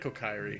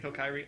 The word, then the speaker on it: Kokiri: a lot to bring how do you say that word cokery uh i always said it kokiri kokiri okay a lot of